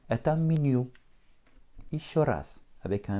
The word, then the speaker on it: меню: Это menu, avec une accentuation finale puisque le mot vient du français. Et mon Y se prononcera comme un petit I. Это menu. Еще раз. M, Y, N, U. Это menu.